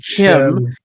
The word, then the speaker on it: CHIM: Chim, pronounced chim, is essentially the characters in the game becoming aware that they're actually in the game.